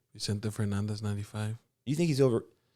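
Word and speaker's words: Vicente Fernández: oh Vincent how do you say his name Vicente Fernandez 95.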